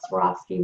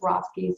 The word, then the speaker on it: Swarovski: knows how to say Swarovski. So I went skiing and I fell and I broke my leg, so I swore off skiing.